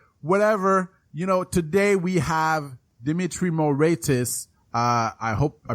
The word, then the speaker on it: Moraitis: Whatever, today we have Dimitri Moraitis. I hope I pronounced his name right. Is it the right way to pronounce it, Dimitri? Oh, very close. Yeah. How do we pronounce it? Moraitis? Moraitis.